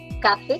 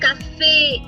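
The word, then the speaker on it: café: Cafe coffee day. But now you must question. You just said last letters are silent. Then why on earth are we pronouncing cafe and not caf?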